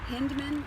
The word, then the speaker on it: Hindman: Lewis Jr., design architect, Dennis Hindman, I hope I'm pronouncing that correctly, it's Hyndman, project architect, and Shelley Hindman, interior design architect.